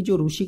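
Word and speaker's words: Tsar: ruler से यहां पर जार निकोलस लेकिन यह पट्टी साइलेंट रहता है जार निकोलस सरकोजी के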